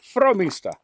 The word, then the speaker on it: Frómista: We're leaving Castrojeriz on our way to Frómista. Did I say it right? Frómista.